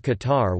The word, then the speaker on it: Qatar: Eventually, after several variations Qatar, Qatar, and Qatar, the modern derivative Qatar was adopted as the country's name. In Standard Arabic, the name is pronounced Qatar, while in the local dialect it is Itar.